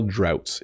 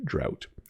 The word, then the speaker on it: drought: so once again drought if you think about the word out like I'm going he's